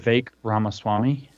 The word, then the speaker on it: Vivek Ramaswamy: Vivek Ramaswamy. Vivek Ramaswamy. Vivek, and Ramaswamy is spelled the way it sounds, actually.